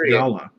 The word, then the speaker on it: gala: It's pronounced gala, like the apple.